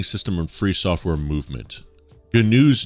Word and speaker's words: GNU: is pronounced G um like saying Gru but replacing the r with n g ganu is an extensive collection